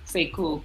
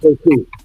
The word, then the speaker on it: Sekou: Oh, Sekou. Sekou. Say cool.